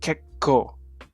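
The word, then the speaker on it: けっこう: Yeah, it's pronounced as if there's 2 consonants, so it'll be kekko. Kekko. With the K sounding like k rather than ko.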